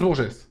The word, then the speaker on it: Bourges: de bêtises bon geste ça se prononce Bourges de la merde dit